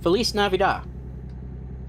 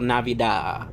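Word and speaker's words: Feliz Navidad: Felis Navidida. I always laugh when people try to like pronounce Feliz Navidida cuz there's like Have you ever seen a white person try to pronounce it?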